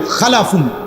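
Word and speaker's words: خلَف: একটা হলো খালফুন আর একটা হলো খালাফুন। একই শব্দ, শুধু উচ্চারণের মধ্যে একটু ভিন্নতা। মাঝখানে একটা লাম আছে, এই লামটার মধ্যে যদি সাকিন হয় তাহলে হলো খালফুন, আর যদি লামের মধ্যে জবর হয় তাহলে হলো খালাফুন, আরবি শব্দ।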